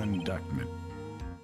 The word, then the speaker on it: indictment: If you cannot prove who the owner of this cell phone is, your indictment.